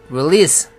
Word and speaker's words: release: 발음은 release, 끝에 SE가 z로 나는 게 아니라 s로 나야 됩니다.